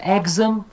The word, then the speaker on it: exam: And you teach syllable and word stress, commonly mispronounced. Here's a good example. Everybody says exam, develop, recognize, and determine, right?